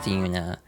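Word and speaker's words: Yoona: It's spelled Y O O N A but pronounced Duna.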